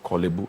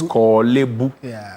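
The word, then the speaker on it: Korle Bu: It's not Kibbu, it's Kibu.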